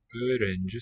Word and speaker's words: öğrenci: Öğrenci, so that G, the softened sign, is silent here.